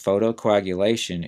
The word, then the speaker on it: photocoagulation: would mean something is clotting in this case photocoagulation is a treatment for wet macular degeneration that